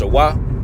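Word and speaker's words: שָׁוְא: In the Hebrew, it's pronounced shawah.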